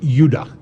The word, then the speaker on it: Judah: were called Benjamin and Judah more properly pronounced yudah because we didn't get the harder sound to the J until about 200 years ago so this is what